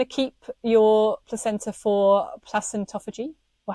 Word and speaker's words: placentophagy: You might want to keep your placenta for placentophagy, or how do you say it, Kemi? No, I'm saying it wrong. I say placentophagy. Yeah, I think they're interchangeable, aren't they?